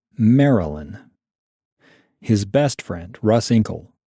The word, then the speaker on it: Marilyn: Eric introduced Marilyn to his friends, who went months thinking her name was Marlin, like the fish, because of how Eric's Scottish accent squashed the middle syllable in Marilyn.